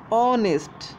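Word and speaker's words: honest: কারণ অনেস্টের উচ্চারণটা কেমন, অনেস্ট, উচ্চারণের ক্ষেত্রে যদি প্রথম অক্ষরটা স্বরবর্ণ আসে তাহলে কিন্তু এই স্বরবর্ণ মানে হচ্ছে ভাওয়েল সাউন্ড, ঠিক আছে?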